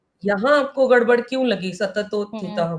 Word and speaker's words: सततोत्थितः: यहाँ आपको गड़बड़ क्यों लगी सततोत्थितः में? क्योंकि त और थ दोनों के उच्चारण समान लगते हाँ हैं लेकिन डिफरेंट करेक्ट। है। लगते हैं सेम लेकिन वो डिफरेंट है एक्चुअली।